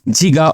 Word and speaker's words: giga: power 12 is Tera sometime the Giga is pronounced as jiga also so some country they call it jiga and some countries it calls Giga both are okay the next one is